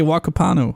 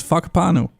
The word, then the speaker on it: Whakapanu: Yo, that is literally how you say Whakapanu. It's Whakapanu. Whakapanu Island. That's just how it's said, apparently.